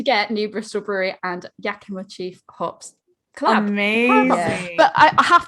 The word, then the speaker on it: Yakima: this and he's like is he yakima or yokima because i'd say yokima and i said i've